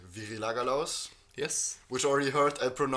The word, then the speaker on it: Virilagalaus: He has his own design company called Virilagalaus, Yes, which I already heard I pronounced kind of correctly.